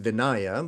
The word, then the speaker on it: Vinaya: the sutras which is what we read every Sunday night the vineia sometimes pronounced vinaya but vignia and that's all of